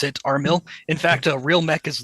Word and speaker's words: Armil: way to pronounce it armill in fact a real Mecca's love is armill RM i l there you go we we like to pronounce it armill since it sounds like mill as in military yeah well this one